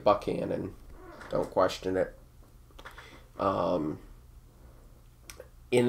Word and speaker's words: Buchanan: uh buchanan county yes i know it's spelled buchanan and they say it buckhannon don't question it um